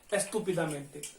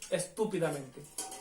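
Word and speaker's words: estúpidamente: इसमें भी आप नोटिस कीजिए, एस्तु टू के ऊपर लगा हुआ है, एस्तुपिदामेंते, एस्तुपिदामेंते, एस्तुपिदामेंते, ठीक है।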